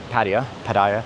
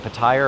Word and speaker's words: Pattaya: asked so many people, is it Pattaya or Pattaya? Like even some of the locals say Pattaya and some of the locals say Pattaya. So if you're trying to correct me on how I say it, like the locals don't even call it one way or another.